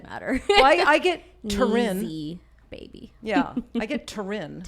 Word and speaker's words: Neeziie: People go Neeziie. Neeziie. Neeziie, But it's E-E. Neeziie. Like, you know, I Reading's need. fundamental, but still. Still. It doesn't matter. Well, I get Teryn. Neeziie Baby.